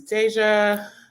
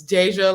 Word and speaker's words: Deja: It's Deja, like deja vu, and sis Kendrin.